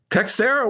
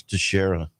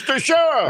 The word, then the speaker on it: Teixeira: I think that's Teixeira. Okay, yeah, you're probably right. We don't want him calling the same. Got his name wrong, you know. It's Teixeira. All right, sir. Thank you for correcting me. Teixeira, although it's spelled Teixeira, but I guess it is. That sounds right.